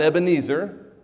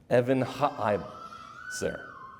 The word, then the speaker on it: Ebenezer: You want to learn how to say that correctly? Evan ha-izer. Evan ha-izer. Not Ebenezer, Evan ha-izer. Weird, huh? 4 syllables in that word. You would literally write it English so that you would remember how to say it. E-V-A-N dash capital I, or dash H-A, Evan ha, then capital I, then Z-E-H-R, zer. Evan ha-izer.